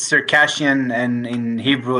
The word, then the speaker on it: Circassian: He is Circassian. Is that how we say it? Yeah. Okay. That's good. Yeah. He is a Circassian. They say it in English it's Circassian, and in Hebrew it's Cherkessi.